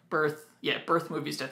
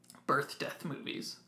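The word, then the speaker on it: Birth.Movies.Death.: I keep saying their name wrong. Birth Movies Death. I think in the last podcast when I was talking about them, I kept calling them Birth Death Movies.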